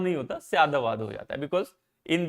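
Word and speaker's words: स्याद्वाद: way of putting knowledge, categorizing knowledge is called Syadvad. I am writing this is for so that you don't mispronounce it. Syadvad. Okay. So it becomes Syatvad becomes Syatavad nahi hota, Syadavad ho jata hai, because in the Sanskrit language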